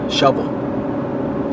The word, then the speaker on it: Shelbyville: is actually Shelbyville Tennessee the locals in Shelbyville Tennessee pronounce it like this shovel so it literally sounds like you're saying the work show hole but it's Shelbyville Tennessee and that is